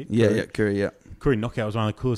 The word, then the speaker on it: Koori: Yeah, Koori.